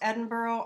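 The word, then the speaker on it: Edinburgh: pronounced Bamber oh it's just south essentially of Edinboro and so I'm thinking that I think it's up in New York sure here so because this is pronounced Edinboro I'm assuming this is Bamber Oh some of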